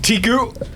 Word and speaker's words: Tiku: Tiku. Tiku. Clay beak. Tigu does not understand how this all works, but But Tiku is 2 syllables.